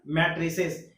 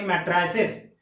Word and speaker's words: matrices: Comparable मैट्रिसेस। याद रखना, कहीं मैट्रिसेस बोला जाता, कहीं मैट्राइसेस। तो ये सिर्फ दो चीज का डिफरेंस है, यूके और यूएस, अलग अलग तरह का प्रोनाउंसिएशन होता है, उससे हम लोगों को जाने की कोई जरूरत नहीं।